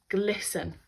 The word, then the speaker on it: glisten: gem began to brilliant glisten we've got that silent T after the S it was enough to